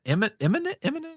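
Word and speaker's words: Immonen: Is it imminent? Eminem, I believe, is the pronunciation.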